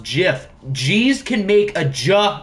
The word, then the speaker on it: GIF: true it is pronounced jiff g's can make a ja sound like in giraffe giraffe starts with the letter g guys okay g's can make a j sound all right the most